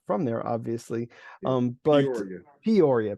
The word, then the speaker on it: Peoria: I don't know why it takes me so long to understand like how that's pronounced because I'm not from there, obviously. Yeah. But Peoria. Peoria.